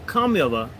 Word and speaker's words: Kamala: Now that they're at the same time that they're demanding the Indian pronunciation, they're insisting that we recognize her as a black.